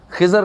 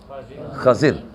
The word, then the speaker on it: خضر: ہے۔ خضر علیہ السلام، آپ کی یہ تلفظ خضر نہیں بلکہ خضر، خضر علیہ السلام آپ